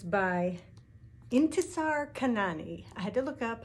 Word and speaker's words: Intisar Khanani: this one it's called thorn and it's by intesar kanani i had to look up how to pronounce that one but it's pretty good this